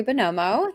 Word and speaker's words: Buonomo: So, hi, I'm Buonomo. The U is silent, and I have been on YouTube since 2019 officially.